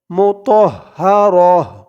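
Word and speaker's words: مطهرة: মুতহা মু তহ রহ মুতহারা এখানে দেখুন ওকফা করার জন্য যা চিহ্ন আছে তো এখানে এই যা চিহ্নতে অকফ করলে মুতহারা উচ্চারণটা এমন হবে লাস্টে যেই গুলতা আছে এই গুলতাটা হা হয়ে যাবে ডালটা কলকলের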